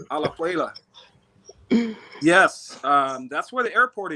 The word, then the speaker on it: Alajuela: He says, did you all go to Alahila? I think that's how you say it. Alajuela. Alajuela. Say it correctly. Alajuela.